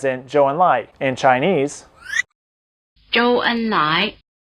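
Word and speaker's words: 周恩来: Lóu, Lóu, Lóu The diphthong "ou" is spelled OU, as in "Zhou Enlai", in Chinese: Zhōu Ēnlái, Zhōu Ēnlái Try repeating.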